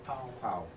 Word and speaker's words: Pow: I think, I mean, it's funny, I mean, please correct my likely mispronunciation, Powellbeck. Is it Power Poe? Powell.